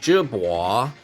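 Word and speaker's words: Jebao: This brand, Jibois, is actually means wave in Chinese, and it's pronounced Jibois.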